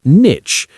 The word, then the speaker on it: niche: sound ending in sh, and niche, with the short I vowel sound ending in ch, as in cheese. Niche, niche. Now, can you guess which one I use? I say niche, and this pronunciation is much more common in British English. To me, it just sounds a bit nicer.